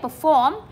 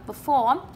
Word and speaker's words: perform: Ok, perform. Thì chúng ta nhấn trọng âm 2, gạch chân luôn, perform.